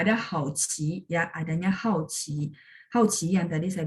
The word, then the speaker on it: 好奇: hao qi ya, adanya hao qi. Hao qi yang tadi saya bilang penasaran. Jadi dia ada kata-kata tertentu yang dia perlu si hao ini harus baca nada 4 hao.